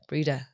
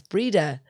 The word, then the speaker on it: Breda: It's an anagram of my name, Bread. Breda. Some people spell it Breda as well. I'm like, how Breda? They put an A in the middle of the name. It's Breda. Breda.